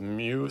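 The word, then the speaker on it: μ: Sometimes you'll also see it written like this, like a weird M for mean, or it's like the mu symbol. You'll hear it pronounced.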